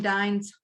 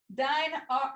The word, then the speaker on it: Dine: you some of Jim dine's Hearts did I say it right not Jim Hines darts dine dine Hearts Friday let me move